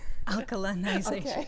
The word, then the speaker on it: alkalinization: bit about and I don't know if I'm pronouncing it right Al alization alkalinization yes absolutely it's it tends to be a